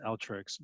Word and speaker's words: Alteryx: and all three yeah alteryx uh so i i have a lot of extra more it's pronounced altricks but this tool and